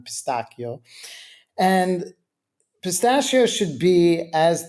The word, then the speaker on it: pistacchio: and that is pistachio, or pronounced in Italian pistacchio.